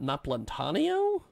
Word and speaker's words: Napolitano: I'm going to butcher not Napolitano is how you pronounce nap Napolitano Napolitano yes